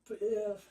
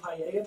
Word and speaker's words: paella: The double L's aren't pronounced like L's, so that works. So, taco paella place.